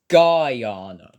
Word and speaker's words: Guyana: Columbia, Venezuela, Honduras, Guyana, It's pronounced Guyana.